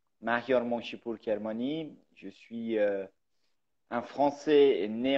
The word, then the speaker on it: Mahyar Monshipour Kermani: moi je m'appelle alors je le prononce à l'iranienne convoyait outre maintenant mahyar monshipour kermani je suis un français